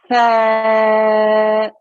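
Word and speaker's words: ث: Okay, so with this particular letter, okay, if you think of the English word thank you, so say thank you for me. Thank you. Okay, so you know when you made the th sound in thank you, that's exactly how you make this sound here.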